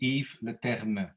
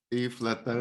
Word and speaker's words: Yves Leterme: Well, it's a French name actually, although I speak Dutch. I mean, the correct pronunciation would be Yves Leterme. Yves Leterme.